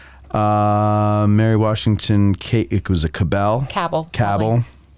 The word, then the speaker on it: Cabell: It was a Cabell. Cabell. Everybody pronounces that word differently. Well, that's the Virginia way. Some people up here call it Cabell, Cabell.